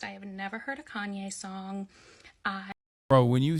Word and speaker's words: Kanye: is 45 likes though I used to pronounce his name Kane because I'm a little dyslexic and that's how I read it but I was part